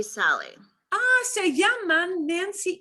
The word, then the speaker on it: llaman: Se llaman Nancy y Sally. Se llaman, and it's got a N sound at the end. Se llaman Nancy y Sally.